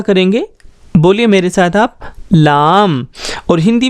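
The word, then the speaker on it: لام: इसका प्रोनाउंसिएशन हम इस तरह करेंगे, बोलिए मेरे साथ आप, लाम।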